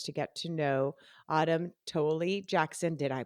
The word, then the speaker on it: Toelle-Jackson: of you listeners to get to know Autumn toly Jackson did I pronounce that right you did oh yay who